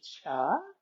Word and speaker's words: Chih: And we're here again today at the Cancer Support Community to do some Tai Chi Cha. That third little word is pronounced cha, like chuck wagon.